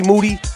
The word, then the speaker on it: Moody: But first, me and Moody, last name rhymes with duty, are going to do our thing.